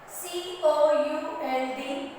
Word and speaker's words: could: Next, C-O-U-L-D, could. Here also L is not wrong. Could. We see. Here again L is not pronounced, so circle this letter L.